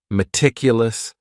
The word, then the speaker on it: meticulous: The next word is meticulous, and this word has 4 syllables, and the stress is on that second syllable. Meticulous, meticulous. That first syllable also has that schwa, that A sound, that reduced vowel sound.